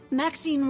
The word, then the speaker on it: Maxine: of most exquisite varieties Maxine rhymes with Queen oh he's a darling